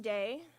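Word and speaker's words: Dej: to start with day and Jason Webb day d-e-j but the J is silent so it's pronounced day and when she used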